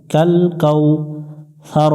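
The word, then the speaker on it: الكوثر: calf ও জবর কাউ কাল কাউ সর জবর সার জবরটাকে দম ফেলার কারণে সাকিন ধরতে হবে আর রকের উপর যদি সাকিন থাকে তাহলে একটু মোটা করে পড়তে হবে কাল কাউসার কাল কাউসার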